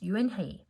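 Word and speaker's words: Unhei: joey she nodded slowly yes it's pronounced you and hey it means grace mr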